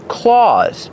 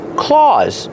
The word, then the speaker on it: claws: Pronunciation claws. Use the a sound like Santa Claus. That's right. They sound the same.